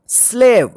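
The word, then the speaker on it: slave: से यहां प देखिए एस एल ए वी ई इसको क्या पढ़ेंगे स्लेव क्या पढ़ेंगे स्लेव ई का देखिए यहां पे उच्चारण नहीं होगा क्योंकि यहां पे देखिए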